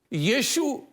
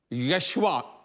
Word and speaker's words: یشو: ہے۔ حوالہ سنیے گا۔ یشو، جس کو عام طور پر لوگ یشوا یا انگریزی میں جاشوا بولتے ہیں، میرے نزدیک اس کا درست تلفظ یشو ہے، کیونکہ نئے عہد نامہ